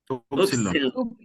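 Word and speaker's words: ὖ ψιλόν: upsilon, Upsilon, Se lee como upsilon, pero se pronuncia como Y. Upsilon es la I.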